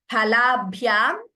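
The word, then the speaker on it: फलाभ्याम्: Shri Lakshmi Bhagini, yes, Phalabhyam, Ha is Mahaprana. Sorry, I had not highlighted it the first time. It was highlighted in the IAST, but not in the Devanagari. Yes, Phalabhyam, Pa is Mahaprana there.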